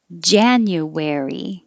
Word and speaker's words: January: in feb is e january the vowel in jan is ah oh we didn't i